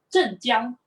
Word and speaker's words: 镇江: In the Chinese pronunciation of the Chinese characters is actually 镇江. 镇江黑醋.